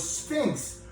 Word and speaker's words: Sphinx: I think what he means is things like something stinks around him.